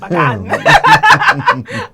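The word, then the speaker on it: Pagán: We had to make sure we say it correctly. He's such a unique guy. I love him so much. Pagãn. Pagãn. There you go. I got to get it with an accent.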